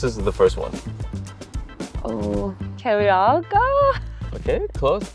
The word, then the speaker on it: Keluarga: Oh, Keluarga? Okay, close. Keluarga.